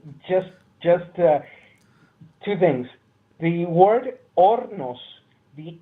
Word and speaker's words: Hornos: that far away just just things the word ornos the H is science yes I I know